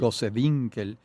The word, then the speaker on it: Gosewinkel: a Ángel Sauce, a Ruth Goswinkel, no sé si se pronuncia así, Gosewinkel. Gosewinkel y Alberto Grau.